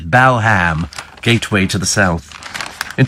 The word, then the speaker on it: Balham: talk about clam and where bull ham for balam yes balham gateway to the south